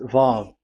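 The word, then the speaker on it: וו: VAV. So it's V as in Vogue. So it's really V. How to read Vogue? So the word, the shape Vav is really pronounced V, like Vogue.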